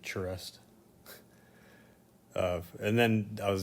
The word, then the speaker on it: Charest: Travis shares work or how David Finch pronounces it charest of and then I